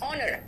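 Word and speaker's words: honour: इसलिए कई लोग कह देते हैं ऑनर, what is ऑनर, इट इज नॉट ऑनर, इट इज ऑनर। तो ऑनर में एच क्या है, साइलेंट है।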